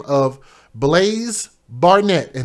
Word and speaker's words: Blaise: by the name of blaze barnett and his name is spelled b-l-a-i-s-e blaze he's one years old